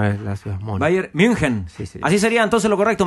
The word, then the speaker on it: München: dice correctamente la ciudad correctamente en alemán se diría Bayern münchen mun casi como una O francesa Bayern münchen mun como en España le dicen Munich mun España y en